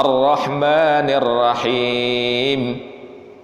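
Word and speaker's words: الرحمن الرحيم: yaitu huruf OL lah roknya di tasjid Hai arrohmanirrohim ya bukan ar-rahman ar-rahman Il Rohim sulitkan bacanya semacam itu Hai Bond dari dua ini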